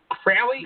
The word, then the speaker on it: Fraley: Is that how you say it right? Fraley?